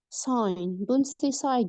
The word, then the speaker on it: sign: on the sign here in this word silent G and Silent G sign know it's wrong sign